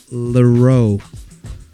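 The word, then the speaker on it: Larrieux: It's called "Get Up" by Amel Leroux. It's spelled Larrrieux.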